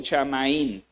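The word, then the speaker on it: שָׁמַיִם: Va a descubrir que la palabra hebrea que se está usando ahí es la palabra shamaín y luego es la pronunciación shamaín.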